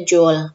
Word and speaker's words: joule: Satuannya adalah joule, dibacanya joule, meskipun tulisannya joule.